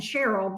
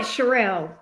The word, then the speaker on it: Sherelle: I've been saying Cheryl, but I think it's, is it Sherelle?